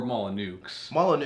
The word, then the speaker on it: Molyneux: like the way that Peter Molyneux and or Molyneux, as is the proper pronunciation of his name.